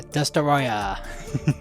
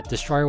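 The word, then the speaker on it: Destoroyah: love how that is the official name of destoroya not just Destroyer yeah Destroyer which yeah oh it's just Destroyer no this is uh to keep the Japanese pronunciation anyway reason why that's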